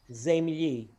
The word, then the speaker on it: земли: Slavonic pronounces all the vowels fully as if they were stressed. So I'm going to read across line by line. Voля, voля. Земле, земли.